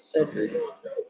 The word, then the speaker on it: Sherrick: No, he will, but so his name is actually Sherrick. He pronounced it Cedric.